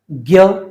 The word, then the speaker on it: ज्ञ: लेकिन आम बोलचाल में हम इसको ज्ञ बोलते हैं और वह हिंदी में मान्य है।